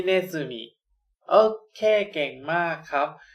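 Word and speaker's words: ねずみ: มิ อ่าน ออก เสียง ว่า ฮิน zumi ิ เนซึมิ นะ ครับ ฮาริ ก็ คือ เข็ม แบบ นี้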